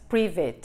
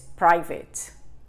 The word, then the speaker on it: private: Y cuidado con la pronunciación del private, ¿eh? Porque no es private, es private. I have private English classes.